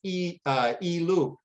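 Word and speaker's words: 一鹭: In Chinese, one egret is pronounced ilu with lotuses pronounced lian, and together they form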